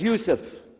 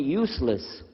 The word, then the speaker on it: Yusuf: work on it chalo my name is Yusuf he say Yusuf he said you said you're very good I wish you teach my wife she keeps mispronouncing it she calls me useless haha humbly now how